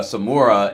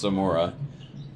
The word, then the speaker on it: Samora: out for uh uh samura and she misses on the three I was getting ready to throw another syllable in there it's Samora as uh weather spoon